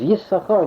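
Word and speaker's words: Yissachar: of Isaacel of Kamarna, writes that the only correct pronunciation is Yisachar, with the dagesh in the sin, number 1.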